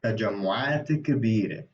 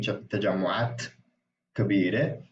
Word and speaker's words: تجمعات كبيرة: somehow, that is added for fluidity, as opposed to saying تجمعات كبيرة, like, and having this sort of two sukoons almost, because it's the ta ends in sukoon, and then كبيرة, like the K also, I don't know. That's just how you pronounce it.